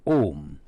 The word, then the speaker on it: Om: A, U, Ma, but pronounced as Om.